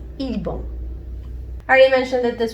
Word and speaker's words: 일본: Japon is pronounced ilbon.